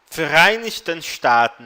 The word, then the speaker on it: Vereinigten Staaten: Vereinigten Staaten, lembrando que V tem som de F, tá?